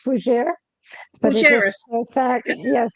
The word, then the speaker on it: Fougères: Please bring out Reverend I need to make sure I pronounce this right, so forgive me, if I don't. Fougères. It is okay. It's Fougere. Fougères. Perfect. Yes, Fougere.